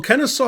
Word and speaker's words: Kennesaw: lull truth hurts well kenneth saw rhymes with law so all right black